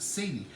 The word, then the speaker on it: Celia: Her name is Celia, and it's spelled Celia, pronounced Celia.